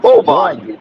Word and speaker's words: Boban: I think that's how you pronounce his name. Oh, Boban.